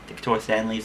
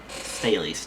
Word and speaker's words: Staleys: pronouncing this right, Decatur Stanleys, something like that. Staleys, not Stanleys, there's no N.